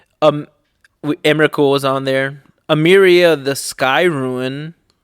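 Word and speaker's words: Emeria: block dude oh um emerical was on there ameria the sky ruin amiri is that how you pronounce it yeah yeah the skyrim i want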